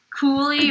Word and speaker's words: Cooley: know don't ask me cooly rhymes with ghoulie it's no i saw